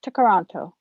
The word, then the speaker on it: Toronto: simcoe and lake kuchiting it's a mohawk word pronounced to karanto and used to describe